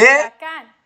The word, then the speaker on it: huracán: De huracán. huracán. Trick you, eh? Huracán. Huracán. Huracán. H. But the H is silent in Spanish. Silent so it doesn't have a sound. So it starts with U.